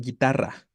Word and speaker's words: guitarra: Si pronunciáramos el sonido de la U, perdón, diríamos guión, algo así como en guitarra, ¿vale? En guitarra, la U existe gráficamente, pero no existe fonéticamente.